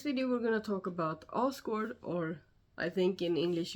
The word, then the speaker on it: Asgård: No, that's not a Swedish pronunciation. You can try and say it with me. Asgård. One more time. Asgård.